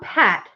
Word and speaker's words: pat: It said, Kimberly Ann said packed for me. See? People pronounce things so different. It's crazy. It's kind of like, do you say caramel or caramel? So right? Google says down pat, P-A-T, is correct.